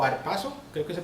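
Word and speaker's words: ἁρπάζω: que dice aquí, que es arrebatados, que se pronuncia como arpazo, realmente nos está dando ese significado literal en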